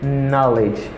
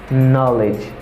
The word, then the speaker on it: knowledge: Ok, after that, the next and the last word is knowledge, knowledge, knowledge, knowledge, ok? It means connaissance, knowledge, mbagi knowledge, mbagi k, k, k. The letter K is silent in this word.